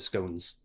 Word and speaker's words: scones: I could see this going well with scones, or scones, if you prefer that pronunciation.